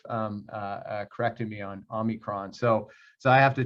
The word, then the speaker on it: omicron: in here because um i've struggled with omicron uh i'm just saying it right uh so that's my little uh slight comedic uh aside um i i so badly want to say omnicron and um and i